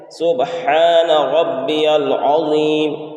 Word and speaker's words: سبحان ربی العظیم: سبحان ربی العظیم، یہ صحیح تلفظ ہے۔ لیکن اس میں پڑھنے میں غلطیاں کیا ہوتی ہیں؟ سبحان میں جو ہا ہے اس کو ظاہر نہیں کرتے ہیں۔ اسی طریقے سے ربی